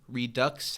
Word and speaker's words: Redux: and after this got to write documentary filmmaking Redux. How do you pronounce it when it's Redux written out? I think it's Redois.